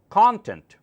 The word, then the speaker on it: content: box is not content content is an entirely different word that means being satisfied content yourself with what you